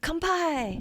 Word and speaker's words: kanpai: is it japanese cuisine it's not bonsai nope i mean that that wasn't karate kid yeah i know that's literally what i was mimicking it kind of rhymes with that what what was it